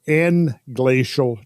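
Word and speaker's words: englacial: empty through sub or n glacial channels sub of course meaning underneath the glaciers and glacial meaning in within the glacier n glacial is spelled e-n-g-l-a-c-i-a-l n-glacial meaning within the ice mass itself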